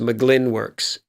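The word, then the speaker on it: Mugglin Works: licensing then I tell them go straight to mcglynn works com now it's spelled like mu Glenn M u ji ji Li n wo RK s com but it's pronounced mcglynn works and there's a father-son team there Steve and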